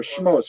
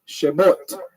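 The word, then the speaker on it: שמות: I'll have to say a little more Sephardic. Shemot. Can everyone say shemot in a Sephardic pronunciation? Shemot. That's right. It's a little stronger segol under there, I guess, or a shvanot.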